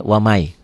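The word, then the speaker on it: وَمَنْ: beda tulisan bacaannya beda ditulisnya waman dibacanya wamai tuh wamai yabtagi gitu ya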